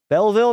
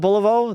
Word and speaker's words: Belleville: Belleville. Belleville, not Bolivo.